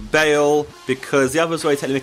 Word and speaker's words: Bale: mid please thank finally we got Gareth Bell make sure I say it right all Gareth Bale because the others already